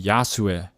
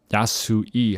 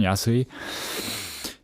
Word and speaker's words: Yasui: the Ino house and the yasu house yasui house yeah like I guess it's more of a correct pronunciation yasi uh and these four